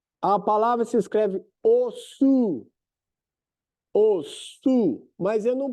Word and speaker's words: osu: Tá escrito lá, os. A palavra se escreve osu.